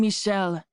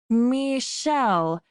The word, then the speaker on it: Michel: I'm Michel, he said, pronouncing it with the French accentuation on the syllables. Damn, that was hot. He put out his hand. Michel.